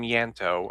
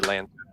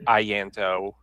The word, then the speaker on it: Ianto: Some of you call me Lanto or Ianto. I thanks for letting me know. I appreciate that. Okay, how do I pronounce it It's correctly? Yanto. Yanto. Or you could actually say Ianto. Ianto. So the I is a hard I, like the Middle English I.